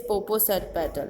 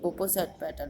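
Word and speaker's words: Popocatepetl: मैं जानता हूँ इसे कैसे pronounce किया जाए, said Jen. Jenny कहता है. It is Poposat petal. A Poposat petal.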